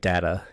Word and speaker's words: data: I think it's traditional in English that if you have a vowel at the end of the word, that the vowel like further back is long. So instead of saying data, you would say data.